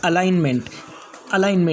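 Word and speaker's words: alignment: जैसे पहला वर्ड है फॉरेन, पहला वर्ड फॉरेन, दूसरा वर्ड साइन, तीसरा वर्ड रिज़ाइन, चौथा वर्ड अलाइनमेंट, फिर उसके बाद में पाँचवा वर्ड है डिज़ाइन,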